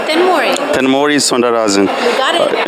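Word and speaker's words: Thenmozhi: Maybe I pronounced right. It's Tenmori. Yeah. Thanmori? Yep. It's Thanmozi, I think. No, Tenmori.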